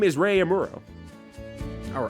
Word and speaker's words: Amuro: No no no his name is Ray Amuro or Amoro I guess is how you pronounce it.